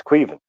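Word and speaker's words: Caoimhín: I mean, but it's Queevin. Like Queevin.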